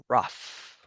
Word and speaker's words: rough: Second one is the word rough. Rough also like an F at the end.